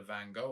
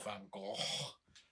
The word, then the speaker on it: Van Gogh: Final one to check out is the Van Gogh or Van Gogh, depending on how you want to pronounce it.